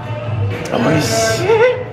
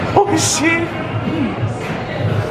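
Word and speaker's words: おいしい: Oishii. Oishii.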